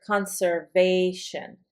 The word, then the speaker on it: conservation: Conservation. So, with a shun, you'd accent right before shun.